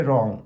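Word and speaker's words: wrong: रॉन्ग हां W silent हो गया।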